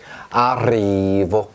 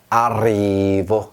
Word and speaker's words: arrivo: 아리보, 이렇게 말합니다. 아리보. 만약에 에레가 하나였다면 아리보였겠죠. 그런데 에레가 두개 있으니까 이렇게 떨었어요. arrivo 이렇게 합니다.